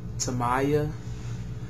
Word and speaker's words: Timaya: a video response to toaya I believe it's how you pronounce his name t i m a y a on spanking is